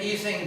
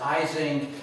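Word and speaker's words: Ising: so he pronounces been easing but American physicists consistently mispronounce it as icing and you know we've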